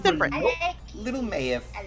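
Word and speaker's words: Meyef: Mayif.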